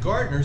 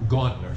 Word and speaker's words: Gauntner: pasteurized sakes okay and gardner says in his book and i think i'm mispronouncing his name it's gauntner sorry in his book he